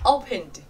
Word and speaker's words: opened: Khi thêm ed chúng ta sẽ đọc là d, rất nhẹ, opened. Còn các từ còn lại chúng ta sẽ phải bật mạnh hơn, cough, stuffed, booked.